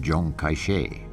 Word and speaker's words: Chiang Kai-shek: Kai-shek whose name in The Mandarin dialect is pronounced John kaishe by 1936 the civil war between the nationalists